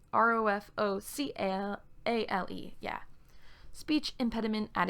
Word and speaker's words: Rofocale: Rofokale, Rofokle. I mean Rofocale.